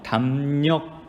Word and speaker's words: 담력: 여러분 없지 로리 억 이렇게 발음 하지 마세요 담력 담 혁 담력 기라고 바르면 합니다 자 md 레 해당 하던 소리가 닐 소리 로 바뀌었습니다 이거 어떤 현상이 일까요